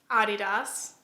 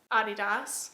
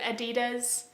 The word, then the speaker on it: Adidas: In my last video I pronounced Adidas. Adidas. Which apprently is the correct pronunciation because the founder is German. But in America we pronounce it Adidas and it a lot